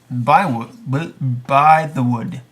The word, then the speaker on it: Bythewood: It's going to be The Secret Life of Bees writer and director Gina Price Bythewood. How do you say it? It says By the Wood, right? Bythewood. See, there you go.